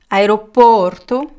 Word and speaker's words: aeroporto: me to practice Porto aeroporto aeropartus aeropartus so the first one is closed and the second one is open aeropartus aeroportos same thing